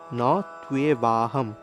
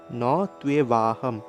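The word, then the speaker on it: ন ত্বেবাহং: তারপরে আবার অনুস্বার রয়েছে অনুস্বারের উচ্চারণটা সংস্কৃতে ম এর মত হবে ম অনুস্বারের উচ্চারণ ম এর মত অর্থাৎ নতুবাহম নতুবাহম জাতু নাসাম জাতু নাসাম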